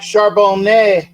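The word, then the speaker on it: Charbonnet: uh um there's a you don't pronounce the t in French because well they're pretentious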